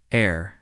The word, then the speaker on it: heir: Heir has a silent H, but connects to heritage, where the H is pronounced.